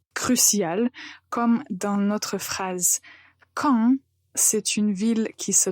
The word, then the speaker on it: Caen: Beaucoup de fois, je remarque que certains étudiants ont du mal à faire une différence entre les sons qu'il faut prononcer de façon nasale ou pas. Et parfois, c'est vraiment crucial, comme dans notre phrase. Caen, c'est une ville qui